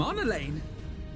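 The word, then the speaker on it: Emmanellain: Emanolain?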